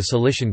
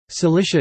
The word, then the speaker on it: Cilicia: The palatalization of C occurring in the West in later Vulgar Latin c. 500 to 700 accounts for its modern pronunciation in English. Cilicia Trachea, rugged Cilicia.